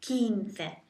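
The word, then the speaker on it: quince: 15 to get 15 if you think of keen at 15 se 15 just think of the memory aid of someone being keen at 15 kin se quinte then after that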